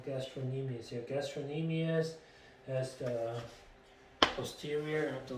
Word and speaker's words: gastrocnemius: legs here and gastroenemia so the c doesn't pronounce right gastroenemies your gastrocnemius has the posterior of